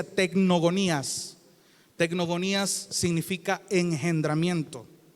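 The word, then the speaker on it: τεκνογονίας: Un sustantivo que se pronuncia tecnogonías.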